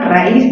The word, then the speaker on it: raíz: Porque, si tú te das cuenta, raíz tiene mayor fuerza en la sílaba is.